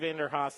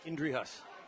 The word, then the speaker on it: Indrihus: I'm not even going to, Enderhaus, that's how your name is pronounced to me, but how is it really pronounced? Indrihus. Indrihus. Yeah.